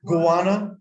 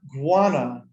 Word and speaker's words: guano: correctly ghana one ghana gowana one that's like iguano without the i right right guana from chile now iguana